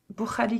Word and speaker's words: Bukhari: Ah, c'est Ah, Bukhari. c'est la prononciation.